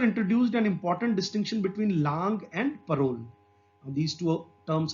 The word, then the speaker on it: langue: And langue, what is langue? We have to pronounce it langue, not lang.